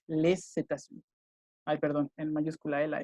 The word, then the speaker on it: les États-Unis: Que si la siguiente palabra es vocal, ahí sí se pronuncia la S. Les États-Unis.